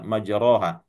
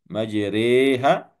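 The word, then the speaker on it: مجراها: adalah riwayat Hafsin ansib kita membacanya majroha. Nah, di sini diimalahkan ya diimalahkan rnya dibaca dan agak dimiringkan bacaannya dari A menuju E. Demikian sebagaimana yang dituntunkan oleh Rasulullah sallallahu alaihi wasallam. Bismillahi majriha wa mursaha.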